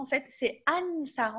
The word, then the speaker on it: Anssar: Donc, les prononciations, en fait, c'est Ansar. On prononce le N.